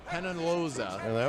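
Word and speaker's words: Peñaloza: Solis and pronounce his last name again for me. Is that Penaloza? Penaloza.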